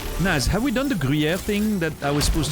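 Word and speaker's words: Gruyère: It's that weird R that I always mention when we're talking about, like, the pronunciation of words. The R, you know, which is not really a R, but a Gruyere. If I'm exaggerating, Gruyere. It's almost like a R, you know, at the back of the which is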